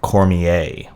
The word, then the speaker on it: Cormier: I've since learned that his name is pronounced Sam Cormier. Want to make sure I get that right.